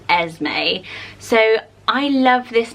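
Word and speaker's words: Esmé: So actually, I say Asme. Some people say Esme as well.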